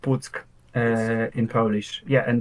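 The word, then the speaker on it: Puck: pu P yeah p u c k it's pronounced psk uh in Polish yeah and they had like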